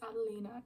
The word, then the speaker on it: Adelina: Addison, Amelia, like Adeline. No, it's Adelina.